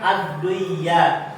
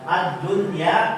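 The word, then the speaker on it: الدنيا: Harusnya kan bacanya adduyaat. Ini tidak termasuk ya karena dia berada dalam satu kata. Paham? Ini kan hanya satu kata dunia ya. Adunya tidak dibaca adduya.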